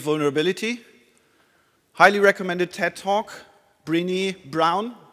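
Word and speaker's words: Brené Brown: highly recommended TED talk brini brown brown like the color and brini as you pronounce it and she talks about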